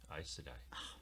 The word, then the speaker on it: Aes Sedai: Aes Sedai.